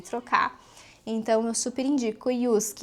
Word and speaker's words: JYSK: indo indico a Yusk, se escreve JISK, mas se traduz Yusk é uma rede de lojas ali dos países baixos que tem aqui na Itália, provavelmente tem na Europa toda.